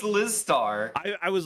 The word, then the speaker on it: Lizstar: are you not wait are you lystar no it's liz starr i i was like